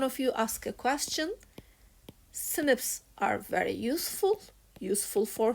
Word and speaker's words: SNP: a single nucleotide polymorphism it is not pronounced as SNP it is pronounced as snip so I get the